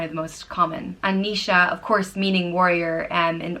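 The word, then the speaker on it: Naoise: The next name is Nisha, and it means warrior, and is pronounced Ni-sha.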